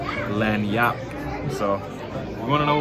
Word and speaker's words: Lagniappe: and on the menu it actually says how to pronounce the restaurant name it's called Louisiana lanap so you want to